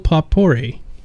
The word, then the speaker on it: potpourri: All right, Coin and Cleavage says, where can I get myself some voxel potpourri? I heard it smells like victory. Potpourri. Yeah, I totally mispronounced that.